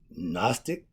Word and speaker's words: gnostic: gnostics means to know the g is silent okay when you have